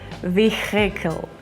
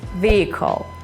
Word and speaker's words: vehicle: It's not vehicle or anything. It's vehicle.